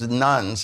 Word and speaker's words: nones: If 45% of the Biden vote is nuns, N-O-N-E-S, with a Catholic audience, you always have to spell it.